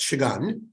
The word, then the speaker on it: Shagun: Since he's not on, I'm going to note that Shagun's name is pronounced Shagun, or when he sometimes does come on.